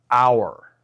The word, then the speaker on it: hour: For example, an hour. A university. Why do we say an hour, okay? Because the letter h is silent, okay? The word sounds like it begins with a vowel sound, uh hour, okay?